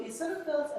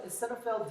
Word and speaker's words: eosinophils: The O here is silent. So eosinophils and basophils, they release chemicals.